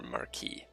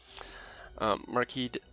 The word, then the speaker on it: marquise: it's Britain versus France we're going to pronounce at the French version you can go Marquess it's acceptable it's perfectly allowed but I'm going to go with the French for marquise marquise Lim berry - that's